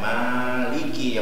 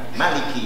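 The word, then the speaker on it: مالك: sudah sekolah dasar itu dengan membaca Maliki yaumin dengan nama panjang tapi ada pendapat dalam ulama qiroah itu boleh membacanya dengan Maliki yaumiddin dengan nama pendek Maliki yaumiddin dengan nama panjang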